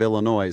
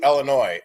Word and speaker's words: Illinois: I'm I will give you Illinois. Where are you from? I'm from Illinois. Uh, but I will not. No, there are no two pronunciations. There is no S. The S is never pronounced.